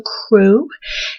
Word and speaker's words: Krewe: And it's called Crew of Mutts. Now, crew is spelled Krewe because somehow I feel you need to know that.